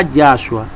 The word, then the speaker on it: Yahshua: Pero ya cuando se tradujo el nombre de Yahshua, se pronunciaba Yahshua, pero al transcribirlo hubo una mano negra detrás de todo esto.